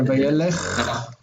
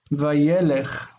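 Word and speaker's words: וַיֵּלֶךְ: And many times when you do this, it shifts the accent for whatever reason. Instead of vayelech, it's vayelech. And this is an unaccented closed syllable, becomes short.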